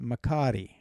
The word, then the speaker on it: McCary: But truthfully, and you mentioned Venka, the Norwegian cousin, they say it the way it probably should be said, Makari, with the little roll of the R.